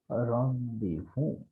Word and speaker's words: rendezvous: And it is not rendezvous, but it is, you can see the pronunciation here is rendezvous, right?